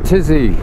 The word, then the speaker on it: Tizi: now in Morocco so tizzy why is it called tizzy like the tizian tests and a tizzy and Tikka but all I can it rhymes with Dizzy and with all the